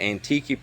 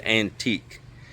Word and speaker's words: Antique: So this is the Antique province. The word sounds like, if you read it, it looks like it says antique, but the Filipinos pronounce different, and it's Antique.